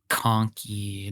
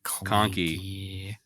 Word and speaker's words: Conky: Conky, not Clanky.